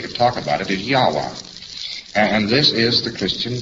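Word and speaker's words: Yahweh: So they omitted all of the vowels in the word and they spell it only with its consonants. So Lord knows how this word is to be pronounced. But more agreed upon pronunciation among scholars so they could talk about it is Yahwa.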